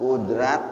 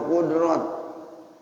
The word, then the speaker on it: Qudrot: Kudrat apa kudrot? Sama aja. Cuman dibacanya ada yang tarkik, ada yang tahfif, itu doang, ya.